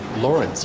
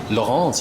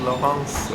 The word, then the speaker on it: Lawrence: Why is it called Lawrence as opposed to Laurence as I pronounced it yesterday? Well, I guess it depends who you ask. Some people might say it's called Laurence. I guess French people often call it that. Like, it's called Lawrence after the name of